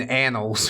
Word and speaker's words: annals: of neckbeard lore yeah make sure you pronounce the second n in annals for sure I'm waiting